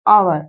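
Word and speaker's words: hour: ए लेकिन ये गलत होगा क्योंकि यहां पे एच साइलेंट है और इसका साउंड आवर यानी कि आ से आ रहा है।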